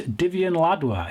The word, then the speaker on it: Divian Ladwa: And his name is Divian Ladwa. If I hope I'm pronouncing that right, Divian.